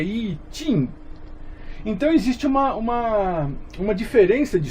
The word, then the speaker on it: I Ching: E pelo amor de Deus, nunca Ai Xing. Tem gente que lê isso aqui em inglês, né? Ai Xing. Pelo amor de Deus, né? Isso é chinês. Então, I Xing. Na verdade é I Ching.